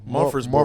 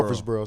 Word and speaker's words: Murfreesboro: Murfreesboro. Murfreesboro.